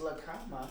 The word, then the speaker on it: La Cama: That was La Cama.